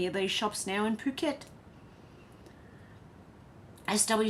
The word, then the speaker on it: Phuket: shops now in Phuket.